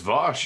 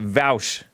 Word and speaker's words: Vaush: his mic for me is it Vash is Vash you nailed it nice you know I learned that from Jesse actually because I was pronouncing it vouch Jesse is a wise